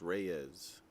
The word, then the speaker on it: Reyes: to say his name it's reyes he is a spanish descent john and pardon me